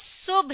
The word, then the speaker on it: صبح: صبح۔ اس لفظ کا صحیح تلفظ صبح ہے۔ آپ نے اسے صبح بھی بولا اور سنا ہوگا، تو اسے دونوں طرح سے بولا جا سکتا ہے۔ سب سے پہلے آپ